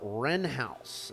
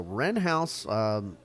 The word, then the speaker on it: Wren House: So Wren House is spelled like the bird with a W in front.